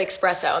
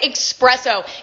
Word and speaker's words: espresso: machine i almost said espresso and that's like my big no-no i'm like emma you can't say expresso guys psa it's pronounced espresso i didn't know that